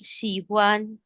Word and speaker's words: 喜欢: Just one pronunciation error, Dheeraj. It's Shihuan.